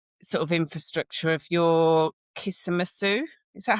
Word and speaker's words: Kismattu: And also just the whole sort of infrastructure of your Kismet Sue. Is that how you pronounce yeah.